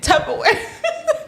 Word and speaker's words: Tupperware: LIKE FLUBBER. LIKE TUBBER. YES. That's how you spell it. But you pronounce it tupperware.